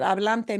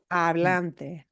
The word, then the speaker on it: hablante: So you can guess that hablante might be a person who is speaking, right? And again, the pitfall we want to look at avoiding here is not pronouncing that H. Lache. Hablante.